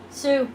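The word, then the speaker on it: Sioux: How's it pronounced? Sue.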